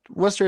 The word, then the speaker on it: Worcester: gotta always remember about this place is that Wester is a deeply unserious City Worcester is a